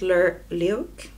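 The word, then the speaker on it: Lewk: A different look. How do you pronounce it? L-E-W-K. Look for every day.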